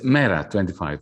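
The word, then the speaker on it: MeRA25: How do you say the name of the party, Janis? It's Mera 25.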